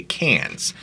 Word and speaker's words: Cairns: is a suburb of Cairns or as the locals say cans she wanted to exercise